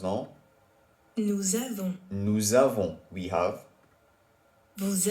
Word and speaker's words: nous avons: So what they're saying is basically, usually the S at the end of nous is silent. However, because avoir starts with a vowel, we have to do la liaison. So it sounds like nous avons.